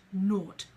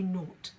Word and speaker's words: nought: So therefore, before the decimal point, the 0 there is pronounced naught. We say naught.